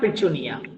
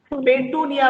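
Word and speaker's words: Petunia: हाँ, solanum, दतूरा एंड पिचुनिया। पेटूनिया मत कहो, पिचुनिया कहो। ठीक है, ये उसका एक्चुअल प्रोनाउंसिएशन है।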